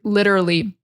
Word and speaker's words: literally: So let's break down the word literally. So litter, so that T is like a D. In American English, so often the T is really like a D sound. Litter. So focus on litter, literally. What's hard is connecting them.